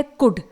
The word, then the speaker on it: could: अगला वर्ड है कुड, COULD, यहां पर भी D से पहले ही L आया हुआ है इसलिए इन्हें हम प्रोनाउंस नहीं कर रहे हैं यानी L लेटर को।